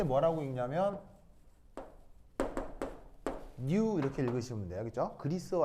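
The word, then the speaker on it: ν: 읽을 때 뭐라고 읽냐면 new 이렇게 읽으시면 돼요.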